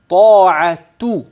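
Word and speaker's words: طاعةٌ: اصل الكلمه بما بعدها فانني اتلفظ بتاء في اللفظ هكذا طاعت اذا التاء والتاء منونه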